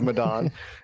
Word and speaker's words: Medan: I'm sorry, I always say it wrong because I like it when it rhymes. The Man of Medan.